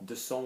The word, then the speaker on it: descend: Descend will be soft, like you know, a soft verb, so descendre, descend.